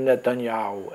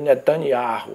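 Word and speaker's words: Netanyahu: chuva não tem né ele disse que a pronúncia real e ao e falou bebê benjamin nethaniau que não é benjamin netanyhau é benjamin netaniahu carro é ele disse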